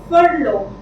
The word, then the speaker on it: furlough: Now if you notice, I have marked the letter R. This is silent. Okay, I don't say furlough, I say furlough.